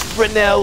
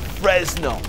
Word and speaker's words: Fresnel: work on your pronunciation it's fresnel lens not Fresno get it right the best way to support